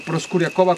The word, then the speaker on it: Proskuryakova: Estamos hasta arriba de la Acrópolis, estructura J23, el lugar que protege ahora las cenizas de Tatiana Proskuryakova, o Proskuryakova como se pronuncia correctamente, desde 1998.